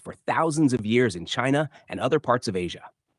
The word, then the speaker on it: qi: is to balance the body's energy or Chi pronounced Chi and restore Harmony to promote healing and well-being